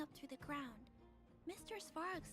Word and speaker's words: Svarog: Svarog said it must have been Svarog.